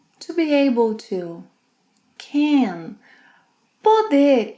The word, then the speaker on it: poder: Finally, poder. Poder is equivalent to be able to, can. Poder in the infinitive has a closed O sound, poder, but when conjugated in the present tense, it opens.